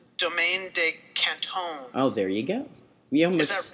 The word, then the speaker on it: Domaine de Canton: I found out from the liquor store after I mispronounced it that it's Domaine De Canton.